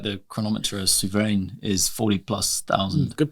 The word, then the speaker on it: Souverain: Like the chronometer Souverain is 40,000+. Good pronunciation.